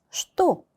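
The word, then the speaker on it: что: 째 슈또 슈또 이거 정말 많이 나올 단어인데요. 자 여기 앞에 있는 최발음이 최로 나지 않고 sh 발음이 나요.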